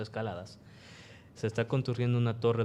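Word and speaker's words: Escaldes: gordoniz se pronuncia así se escribe escalades pero se pronuncia escaladas se está contrio una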